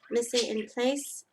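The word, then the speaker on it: mise en place: you know how do you say miss it Miss it in place m i s e e n e n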